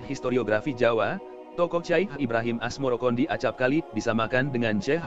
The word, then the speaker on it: Asmoroqondy: atau Maulana Ibrahim Moro sebutan itu mengikuti pengucapan lidah Jawa dalam melafalkan assamarkandi yang kemudian berubah menjadi asmorokondi asal muasal Sikh Ibrahim asmorokondi